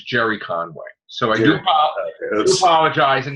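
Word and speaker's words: Gerry Conway: wasn't Gary Conway. It was Jerry Conway.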